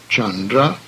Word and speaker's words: Chandra: However, the soft C sound, as in church, is the same. Thus, Chandra is one of the names of the moon.